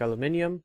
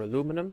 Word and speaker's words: aluminium: Bauxite ore, which is used to make aluminium, or aluminum, depends on how you want to pronounce it.